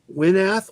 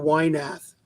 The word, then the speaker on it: Winath: Winath or Wynath. Lightning your- Lad? Yeah, pick your pronunciation. I've heard both. They pronounce it Winath on the Legion of Superheroes cartoon and Wynath in Smallville.